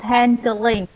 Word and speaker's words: handling: No, not handling. Handling is correct. Handling. No G. Yes, no G. Handling. Only 2 syllables.